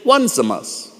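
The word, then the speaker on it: Onesimus: For the first child name is spelled o n e s i m u s as in one zamas and well naturally the other child is named two zamas.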